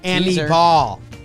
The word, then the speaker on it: Anibal: Anibal. Like when I was a little kid and my mom took me to the store and I just wanted any ball. That's how you say his name.